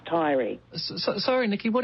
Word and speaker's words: Taieri: - That there's no Tai-eree and there's no O-amaru. You know, have you got a lot of Māori in you too Marcus or something? We don't talk like that down here.